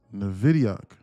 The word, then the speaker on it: Nvidia: Nvidia.